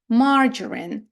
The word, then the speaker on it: margarine: винятків у зворотньому напрямку наприклад літера G з літерою a має вимовляти свій нормальний звичний звук Ґ але не вимовляє а чомусь каже Дж margarine маргарин ось це слово